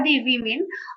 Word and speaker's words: women: और ये काफी अच्छा बात लगा जिन्होंने रिप्रेजेंट किया है फॉर द वुमेन। और यहां पे आप ध्यान देंगे कि हमारा प्रोनाउंसिएशन क्या है? वीमेन।